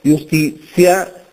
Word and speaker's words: iustitia: o ecclesiastica del latino parole Come iustitia stientia absentia si pronunciano giustizia scienzia assenzia e così via ora